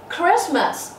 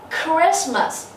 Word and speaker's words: Christmas: Nhấn âm tiết số 1, hạ âm tiết số 2. Christmas. Christmas.